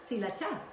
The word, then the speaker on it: Sriracha: is from Thailand and actually it's not called Sriracha in Thailand it's called cacha that's how my mom pronounced it so cacha some tomato